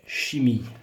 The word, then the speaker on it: chimie: Chimica en français, chimie. Le E ne se prononce pas.